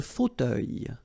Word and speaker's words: fauteuil: Le fauteuil. So remember, it's a bit tricky, this word. Fauteuil. Teuil. Fauteuil. Le fauteuil.